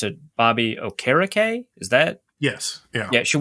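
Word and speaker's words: Okereke: expected more from okay so the the announcers pronounce it Bobby o'kara Kay is that yes yeah should we've expected more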